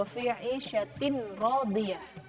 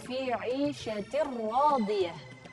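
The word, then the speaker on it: عيشة راضية: Nah, bacanya bukan fahuwa fi 'ishatin radiyah, tapi membacanya fahuwa fi 'ishatir radiyah tanpa gunnah.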